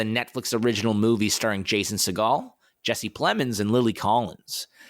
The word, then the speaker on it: Segel: Just to be clear, I'm pretty sure it's Jason Segel. Seagal. It's Segel. He's not a goddamn bird, Simon.